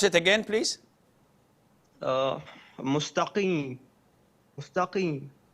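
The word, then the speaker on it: مستقيم: Can you pronounce it again, please? Mustaqim, mustaqim, like this.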